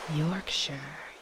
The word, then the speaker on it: Yorkshire: When you see the syllable shire, say sure. Yorkshire.